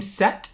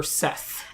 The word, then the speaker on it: Seth: mm-hmm is his name set or Seth it goes either way ok I think it's technically pronounced set ok but it's spelled Seth ok so so far